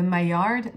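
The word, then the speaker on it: Maillard: known as a and i'm going to say it the french way because i don't know how to say the american way and i'm not trying to be annoying but the my yard maya reaction okay my yard actually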